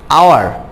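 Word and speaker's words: hour: আওয়ার, আওয়ারে এইচের উচ্চারণ আসে নাই, ওর উচ্চারণ এসেছে।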